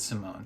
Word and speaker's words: Simon: simon saying simone simon i think i might say simon but they pronounce it simone so maybe maybe i should say simone but also that's they're saying that with like a swedish swedish accent so i don't know